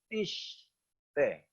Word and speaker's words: tiste: Tiste dibacanya tiste. Itu kalau kita lihat sinnya itu titiknya ada di sebelah kiri. Itu berarti S, tiste. Ya, tapi komentar Sota mengatakan ini juga bisa dibaca tishte, yang artinya roh kebodohan, bodoh, folly, roh kebodohan.